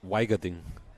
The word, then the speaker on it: Wiegerding: How do we say his name? In German, it's called Weigerding. Oh, okay. Well, that's handy, because I've been saying it wrong all week.